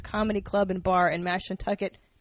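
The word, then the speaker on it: Mashantucket: And then um January 31st through February 2nd, comics at Foxwoods Comedy Club and Bar in Mash Nucket, Connecticut. I'm supposed to say it like that.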